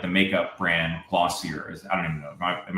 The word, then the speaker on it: Glossier: Like, yeah, I think they do it for like the somebody had mentioned like the makeup brand Glossier. I don't even know. Am I pronouncing that right? Yeah, Glossier.